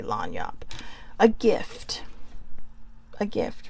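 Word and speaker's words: lagniappe: about this card is how to say it or lanyap but I I say lanyop a gift a gift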